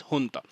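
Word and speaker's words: junta: as they are called in myanmar j-u-n-t is pronounced as hunter so the reason why it is in the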